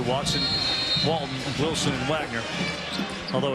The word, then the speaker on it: Wagner: Watson, Walton, Wilson, and Wagner. Although it's pronounced Wagner.